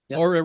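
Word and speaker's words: Oura: Um so how do you see technologies like the URA rings? Is that how you pronounce it? URA. ARA. Uhhuh. Aura rings and uh and the watch bill optimization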